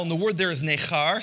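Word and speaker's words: נכר: What it says in verse 3 is he says, "Let not the son of the Gentile," and the word there is nechar, say nechar.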